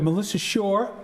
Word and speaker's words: Melissa Shore: We have Melissa Shore. Did I pronounce that correctly? Yes, you did.